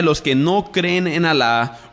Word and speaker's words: Alá: que todos se sometan al islam Ahora cuando usted escucha la palabra al a L A con acento en la segunda a eso es su Dios